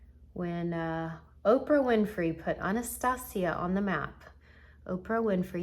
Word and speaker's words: Anastasia: anastasia beverly hills which i recently found out i'm saying it wrong i've called it anastasia my whole life it's anastasia not my whole life but